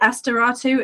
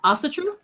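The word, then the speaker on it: Ásatrú: who do their Okay, I can't pronounce Is it Asteratu? Is that correct? You the ast what the a you mean the religion? Yeah. Astatru. Thank you.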